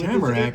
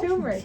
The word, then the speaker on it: Turmeric: And today we've got Tamarack and Tequila with Tamarack? us. And Tamarack. What is Some- that? did I say it wrong? Turmeric.